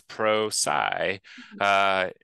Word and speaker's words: Prosci: you see it so the name of the company actually comes from a contraction of professional and science so it's Pro PSI using research to understand